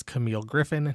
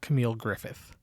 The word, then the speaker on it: Camille Griffin: the director's name wrong her name is Camille Griffin not Camille Griffith I apologize now back